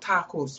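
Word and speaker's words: ταχύς: Okay, that's what takus means. Takus is the right pronunciation of it.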